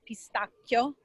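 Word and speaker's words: pistacchio: from the their pistachio which by the way is pronounced pistachio in italian italian okay divine divine but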